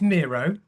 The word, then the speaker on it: Miro: It's it's Mero. As far as I'm concerned, it's Mero. I do hear it pronounced a lot of different different ways, but but but Miro like it's named after the Spanish painter.